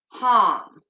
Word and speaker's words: ham: we need now be mantra for the throat chakra is harm so it's spelled h-a-m like ham but it's with a long a so um that